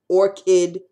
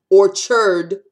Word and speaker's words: orchid: me to drink insane orchid is a flower I orchard apples a Rd orchard and that's the way you pronounce it orchard apples or kid is a flower I is flower a apples orchard okay that's this